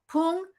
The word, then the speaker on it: Poong: That's what's how you pronounce it. Poong.